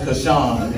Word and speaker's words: Caution: I mean, it's spelled caution, but it's pronounced Kashawn.